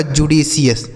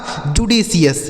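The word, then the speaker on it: judicious: जे यू डी आई जुडी सी आई ओ यू एस का उच्चारण हो गया सी एस। यह लिखा गया आपका जुडिशियस। ठीक है दोस्त? इसे पढ़ा जाएगा जुडिशियस।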